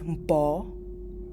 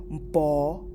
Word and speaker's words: mpo: Next, to say 1 is mpo. You see I put the or. So you pronounce it like po. Or you can say yara, mpo, yara.